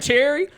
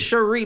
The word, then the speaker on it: Cherie: name to Cherie because people are like Cherry. No, it's I ain't Cherie. gonna hold you. Yes, that is how you say with my. Cherry for a little minute. That is until how I you heard say it. my artist name. It is Cherie, like my Cherie Amore.